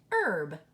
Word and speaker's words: herb: it that way but we know that the H is silent so this word is actually herb you have your er says a herb okay an herb is a plant that